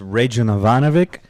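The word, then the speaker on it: Reykjavík: And again, I'm going to kill the pronunciation. It's Reykjavik, Iceland.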